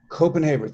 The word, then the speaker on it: Kopenhaver: 2016 sba grad caitlin caitlin have i been mispronouncing your last name coppenhaber or copenhaber openhaver copenhaber thank you very much uh work examines universal